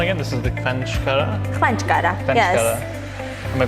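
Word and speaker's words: ხვანჭკარა: Khvanchkara. Khvanchkara. Yes. Am I pronouncing that right? Khvanchkara. Khvanchkara.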